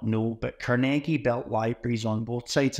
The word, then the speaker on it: Carnegie: And can you quickly share about the, and you say it's not Carnegie, it's Carnegie. It's the proper way of pronouncing it.